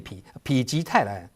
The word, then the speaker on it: 否: It means the "no" in "否" (misfortune) is pronounced as "pi."